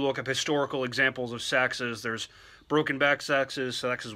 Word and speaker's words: seax: First of all, it's pronounced Seax, not CX, so let's get that out of the way.